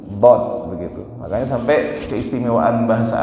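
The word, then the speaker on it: ض: Di mana dara pengucapannya adalah pinggir lidah kita ditempelkan ke geraham. Baik yang kanan ataupun yang kiri. Dod.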